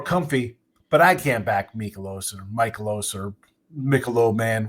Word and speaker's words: Mikolas: He had what, one bad start 2 ago, and like you just said, Miles Mikolos is how you say it. Yeah. Mikolos.